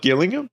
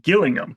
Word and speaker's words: Gillingham: On why what just it's not Gillingham oh is this a gif GIF reference I'm just asking okay cuz there is a Gillingham indors it that's pronounced Gillingham right so just saying just